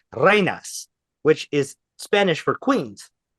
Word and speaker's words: Reinas: Reinas, Reinas, Reinas. And that is how you pronounce that. Reines?